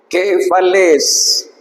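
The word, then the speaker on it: κεφαλῆς: Entonces aquí dice quefales. Quefales es como subir y bajar.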